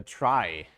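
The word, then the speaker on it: trie: so the thing is called a try pronounced like in I try to be a good person uh um I'll comment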